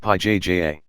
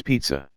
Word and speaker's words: pizza: balram they laughed again it's not pja it's pizza say it properly wait you're mispronouncing it too there's a tin in the middle pete za don't correct my english ashuk there's no tin pizza look at the